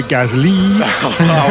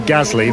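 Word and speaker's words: Gasly: know that it's Pierre Gazi as Daniel as opposed to we say Gazzley. The French pronounce the second syllable more than the first.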